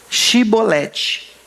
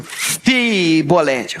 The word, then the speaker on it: chibolete: Então fala chibolete aí. Se ele era de Efraim, eh, hum, fibolete, faca nele próximo.